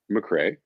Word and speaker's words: McCrea: Now, how do you pronounce your last B name? Mcrae.